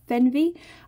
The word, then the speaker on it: Fernweh: with the name then the name of the quilt pattern is fenvy it's spelled a little differently than it sounds and it is the